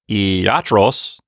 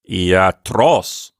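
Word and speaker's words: ἰατρός: or ultimate syllable so it's not eotros or iatros it's iatros yes the accent on the last syllable and this brings up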